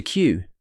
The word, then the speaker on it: queue: To queue means to stand in a line and wait for your turn. It's spelled q u e u e. Four of the five letters are silent.